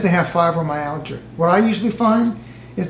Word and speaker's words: fibromyalgia: Fibromyalgia. Fibromyalgia.